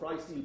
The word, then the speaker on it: Freistil: And our hosting platform is called Freistil Box. Freistil is the German word for freestyle, but is pronounced exactly the other way around.